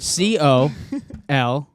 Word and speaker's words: colonel: COLONEL. Colonel. If you spelled it out, it would be colonel. But Colonel. Where's the colonel. R? There's no R.